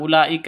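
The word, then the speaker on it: أولئك: sebagai tempatnya HAM Hamzah makanya Ula langsung ke la Ula bukan u salah yang betul Ul seperti itu ulika di sini ada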